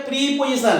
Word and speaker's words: preposition: Pronoun की प्रोनाउंसिएशन जो हम पढ़ रहे हैं प्रेपोजिशन है, प्रीपोजिशन है, प्री है क्या प्रे है? प्रेपोजिशन, प्री नहीं है, प्रेपोजिशन, प्रेपोजिशन।